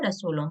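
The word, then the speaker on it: رسل: उसकी किताबों पर उसके रसूलों पर अब यहां पर देखिए रसूल है ये रसूल नहीं है स्पेलिंग डिफरेंस देखि आप ये रसूल है सिंगुलर ठीक है ये रुसूल है प्लूरल यानी कि उसके तमाम रसूलो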